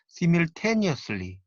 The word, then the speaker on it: simultaneously: 동시에라는 뜻을 나타내는 simultaneously 이런 경우는 3음절의 강세가 있습니다.